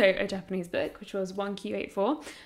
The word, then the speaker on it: 1Q84: Japanese book, which was 1Q84, which I always want to call iQ84, but the title makes way more sense in Japanese because the way you pronounce 9 is also like "Q", I think.